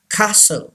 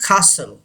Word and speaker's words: castle: castle. टी is silent, T की आवाज नहीं आएगी. castle.